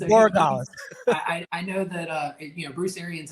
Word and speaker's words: Borregales: It's Borregales.